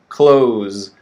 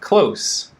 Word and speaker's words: close: but it's often confused we have the verb close with a z ending sound z okay so for example please close the door all right and then we have close that's an adjective with an s ending sound close oh he's close